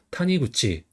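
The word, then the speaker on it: 谷口: 그래서 골곡은 보통 탄이라고 많이 읽어요. 그다음에 이구는 쿠치 또는 구치라고 읽어요. 그래서 여기서는 굳치라고 있습니다. 그래서 탄이 구치.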